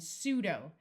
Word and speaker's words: pseudo: which means brain and pseudo note that this p is silent pseudo means false but be careful not to